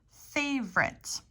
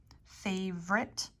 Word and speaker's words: favorite: Favorite. Favorite. The O is kind of omitted here. It's an omitted vowel. Favorite. Or you could say favorite. 3 syllables.